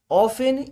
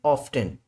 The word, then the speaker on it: often: He often, वह अक्सर या फिर वह हमेशा, इसे दो तरीके से प्रोनाउंस किया जाता है, ऑफन या फिर ऑफ्टन।